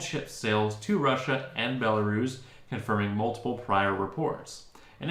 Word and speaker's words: Belarus: and distribution of our products into russia and belarus uh intel am i pronouncing that correct belarus yeah absolutely i'm just